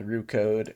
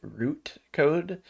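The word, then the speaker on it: Roo Code: know my transcript software actually called rot code root code so you can see root code instead of rot code I thought that was kind of funny but probably need to get better at pronouncing that I also found it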